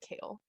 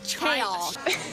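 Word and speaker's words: Chaol: Like, obviously it's spelled like chaos, but with an L, so you should be able to pronounce it Kale.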